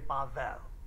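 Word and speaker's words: בבל: letters this time but that's how you would pronounce it everyone say bavel and it has a meaning it's confusion there's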